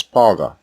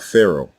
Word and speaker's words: Pharaoh: were listening carefully you heard the word pharaoh pronounced as paga and not pharaoh behold the reason for this is because the